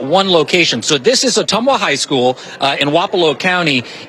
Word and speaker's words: Ottumwa: And Jacob, I think I'm going to pronounce this right. Ottumwa? Ottumwa.